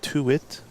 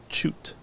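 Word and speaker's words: Tuit: You would think it's to it, but it's pronounced choot. Ch. Like you're going to shoot a basketball or shoot a shot, but with a ch.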